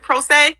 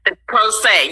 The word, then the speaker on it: pro se: talk to us about this term pro se is that is that how you pronounce it pro say yes pro se yes and i'm a